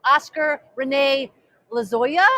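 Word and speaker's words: Oscar René Lozoya: But we are here at this right now to talk with Oscar Rene Lozoya.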